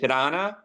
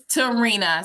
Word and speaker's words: Terina: name and is it Tana am I saying it right it's Terina so if you think of Serena the tennis player just put a t in front of you Terina Terina it Italian